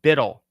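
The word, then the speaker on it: BUIDL: their CEO this is Black Rock USD it's pronounced bidle this is on the blockchain now you can't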